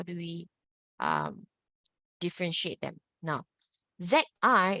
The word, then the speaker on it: zi: Now, ZI is pronounced as zi, zi, zi. You can notice your tongue is a bit more relaxed. Even your facial muscle, you will feel it to be more relaxed, okay?